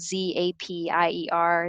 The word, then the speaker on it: Zapier: they're amazing it spelled Z API er zapier rhymes with happier they are a software